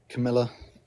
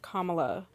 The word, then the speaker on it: Kamala: Trump and Camila both her name is pronounced Kamala.